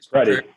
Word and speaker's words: Predey: Predey.